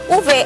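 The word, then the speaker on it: Uwe: উভে, actually ওর নামটা ইউডব্লিউই, ওদের ডব্লিউটা না ভি এর মতো প্রোনাউন্স হয়।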